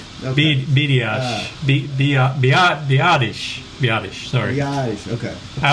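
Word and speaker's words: Biadasz: Badass? Is that how you say his last name? Okay. Biadish, sorry.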